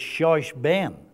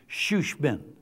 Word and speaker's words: shushbin: But if you're going by the spelling, it looks like it's shushben, S-H-O-S-H-B-E-N. But the pronunciation is shushbin, the friend of the bridegroom, better known as the best man.